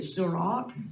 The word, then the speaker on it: Surak: and then in Enterprise they pronounced it Surak.